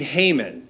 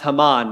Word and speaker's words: Haman: else who's above Mordecai a guy named Haman or perhaps Haman might be a better way to pronounce it Haman is like the